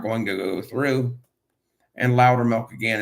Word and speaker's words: Loudermilk: And Loudermilk, again, is spelled LOUDERMILK, like speak louder and give me milk.